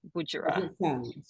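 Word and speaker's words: Budjerah: Spell it. Uh, B U D J E R A H. Budger.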